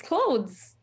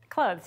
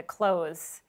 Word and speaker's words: clothes: always questioned um it's clothes clothes yeah okay that's what I say too I pronounce the th but we had a few people who were going straight to the close no th um okay on to